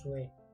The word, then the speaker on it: souhait: On écrit souhait, on prononce souhait.